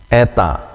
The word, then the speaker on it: Eta: ini bentuk hurufnya diucapkan seperti pada kata merah Eta merah ya kalau ini